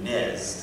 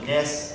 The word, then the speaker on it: NES: So, the Nintendo Entertainment System, or NES, and I'm one of those weirdos who pronounces it like the Brits do, NES. I love that pronunciation. Most people will say NES after their account character.